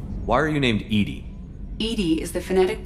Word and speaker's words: EDI: to the crew why are you named edie edie is the phonetic pronunciation of edi that is an acronym for